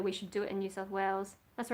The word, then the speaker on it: New South Wales: And there was someone who was trying to do research about whether we should do it in New South Wales. That's the right pronunciation.